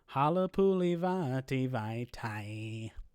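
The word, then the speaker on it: Halapoulivaati Vaitai: my name bracket posts, you can say Halapuli Vati Vaitai's name to the song Play That Funky Music White Boy, and it works perfectly.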